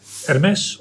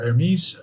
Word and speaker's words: Hermès: Hermes or Hermes. I prefer the French pronunciation.